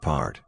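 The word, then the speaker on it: path: We Sikhs call it part, pronounced part, nights that I'd remember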